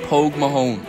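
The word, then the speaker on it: póg mo thóin: to kiss his ass there's a well-known phrase in the Irish language pronounced Pogue Mahone which means kiss my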